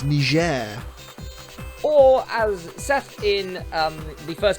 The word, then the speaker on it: Niger: it yeah it's not please don't hard g it's or you'll be cancelled